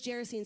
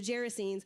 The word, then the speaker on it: Gerasenes: It says, when they crossed the lake to the region of the Gerasenes, now I know it's Gerasenes because I actually looked it up, and I actually didn't just look it up how it's pronounced.